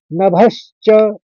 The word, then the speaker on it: नभश्च: की कैसी ध्वनि आएगी तो नभ च दो श का उच्चारण निकालेंगे की कोशिश करेंगे आपकी स्वर निकले दो श नभश्च अब उसके बाद वाला